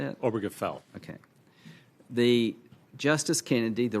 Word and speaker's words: Obergefell: Obergefell.